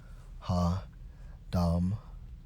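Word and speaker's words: הֲדֹם: to the hebrew strong's h 1916 pronounces ha dom which means stool footstool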